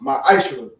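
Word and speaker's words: מעשר: Means tenth in the Hebrew, and it's pronounced ma'ashra.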